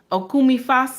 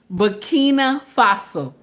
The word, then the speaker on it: Burkina Faso: Now I know I'm saying his name wrong. Okumi Faso, or I don't know his full name properly.